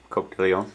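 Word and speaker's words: Coq de León: Am I pronouncing that correct? Yeah, Coq de Leon.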